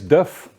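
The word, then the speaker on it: Div: me my name is Duff he spell it di IV and you say it like you would say the first part of the differential of the truck um I'm from ratos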